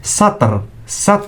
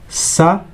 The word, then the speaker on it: سطر: So those lines in Arabic we say one line is satr with sin, not sad. Sin plus ta plus ra equals satrun.